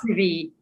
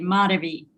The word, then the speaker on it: Madhavi: Madhavi, we'll practice. The emphasis is on the first A, Madhavi. Madhavi.